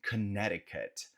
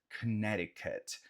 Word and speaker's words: Connecticut: Logo ao norte temos o estado de Connecticut, Connecticut, Connecticut. Nota que esse C do meio a gente não pronuncia, tá?